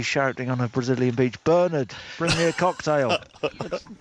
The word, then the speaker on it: Bernard: I've now found documentary evidence that he does not pronounce his name Bernard. He pronounces it Bernard.